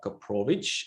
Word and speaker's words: Koprowicz: interesting stuff and today my guest is koprovic am i pronouncing that correct perfect the best version i've